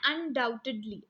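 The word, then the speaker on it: undoubtedly: Second है अनडाउटेडली. अनडाउटेडली इसमें बच्चों बी जो है वो साइलेंट है.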